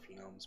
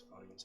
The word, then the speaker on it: phonemes: word it's like phonemes i always call it phenomes but it's not it's phonemes i think so we're